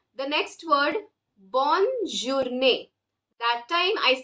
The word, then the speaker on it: bonne: So when I say the next word, bonne journée, that time I say bonne journée. The tongue touches the upper part of your mouth when you pronounce B-O-double-N-E.